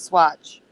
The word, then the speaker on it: Swatch: Yes, Swatch. Swatch, how you spell it? SWATCH. Swatch. It's like watch with an S in front of it.